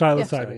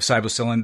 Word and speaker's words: psilocybin: Am I pronouncing that correctly? Psilocybin.